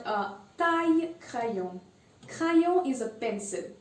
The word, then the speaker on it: taille: ILL is usually pronounced as Y. So we saw fille. And then we have the next one, taille. Taille means height. Interesting.